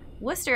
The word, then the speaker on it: Worcester: Worcester, I will never forget. Leicester, Leominster, all the ones that have fewer syllables than you would think.